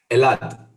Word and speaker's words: Elad: that it is pronounced so how do we pronounce your name a lot elad is oh or you could say in a